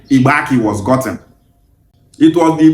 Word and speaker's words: Igbanke: is how that name Ibaki was gotten. It was the Brit that spelled their name as Ike. No it's not Ibank is Ibaki.